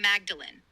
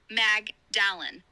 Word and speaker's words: Magdalen: At Oxford, it's indeed Magdalen from Magdalen, even though it looks like Mag Dallin, on paper. My bad there. Gotta love those quirky English pronunciations.